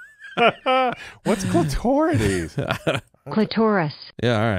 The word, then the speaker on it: clitoris: that again Miriam Webster has they have both pronunciations as acceptable okay clitoris oh wow that say clitorus clitorus right but it's clitoris clitoris my whole life I've been are you